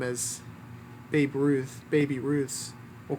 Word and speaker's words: Baby Ruth: It was called Baby Ruth, not Babe Ruth. But how's it spelled? BABY. There are certain pronunciations where the Y is silent.